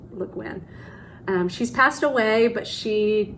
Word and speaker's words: Le Guin: I think you say her name Le Guin.